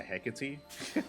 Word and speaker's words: Hecate: Yeah, I think I know that a bunch of casters were pronouncing Hecate differently, and they finally come around to Hecate because that's what we've been saying from the beginning, because it's a Greek word.